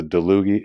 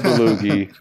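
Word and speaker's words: Dalluge: And by the way, anybody that owns a DeLuge, it's not Deluge. Gerald DeLuge himself said it's DeLuge. Okay, so that's the proper pronunciation from Gerald DeLuge himself.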